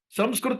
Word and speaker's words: संस्कृत: संस्कृता बोलिए, क्योंकि सब लोग को everybody can pronounce the word संस्कृता.